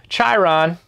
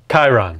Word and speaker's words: Chiron: printer that's in this box huge any cubic chiron chiron chiron we can't pronounce it right because it spelled weird chiron